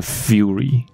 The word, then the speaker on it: fury: fairy，所以这个字念成 fury，生气这样子。